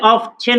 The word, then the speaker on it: often: OFTEN, কেউ চাইলে অফছেন উচ্চারণ করতে পারেন অথবা কেউ অফেন উচ্চারণ করতে পারেন, তখন এই টি এর হবে না, অফেন, ঠিক আছে।